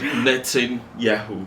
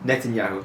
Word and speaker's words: Netanyahu: Net Yahoo. Netanyahu.